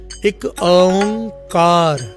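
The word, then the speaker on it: ੴ: असल में ओंग भी नहीं है, ओंग है। एक ओंकार, ये है असल इसका प्रोनाउंसिएशन।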